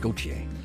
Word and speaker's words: Gauthier: It's French, pronounced Gauthier.